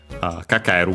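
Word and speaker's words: かかる: Uh kakaru by the way accented on its own.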